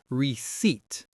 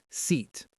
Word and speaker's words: receipt: It looks like receipt, but the P is totally silent. It's pronounced receipt. The stress is on the second syllable. receipt.